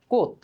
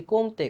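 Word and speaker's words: Comte: কারণ এইটার উচ্চারণ আসলে কমতে না। এটার উচ্চারণ হচ্ছে কোথ।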